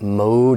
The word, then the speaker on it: mode: understand it but just know that mode is long Oh mode but it becomes short and modify modify mode modify it's not important that